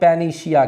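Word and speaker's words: panacea: इसको हम क्या कहते हैं स्टूडेंट्स इसको हम peninsiya कहते हैं पहले सिया कहते हैं स्पेलिंग कभी कभी इसका पूछ देता है की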